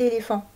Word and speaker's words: éléphant: On remarque que éléphant comporte un T muet qu'on entend dans éléphanto, qui est le nom du bébé de l'éléphant.